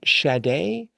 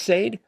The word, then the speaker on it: Sade: Is it Shade? Shade. Is it pronounced? Sade. For some reason, I want to pronounce it with a with a a sh sound. But anyways, sade, I think.